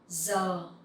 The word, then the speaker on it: giờ: Giờ is hour. Giờ, here you will see the G-I sound, you will pronounce like Z sound in English.